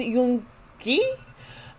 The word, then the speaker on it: Yoon-gi: And today we are in the series on Suga, Min Yoon-gi. Americans have the G sound more like a G, and I realize in Korea it's more of a K sound.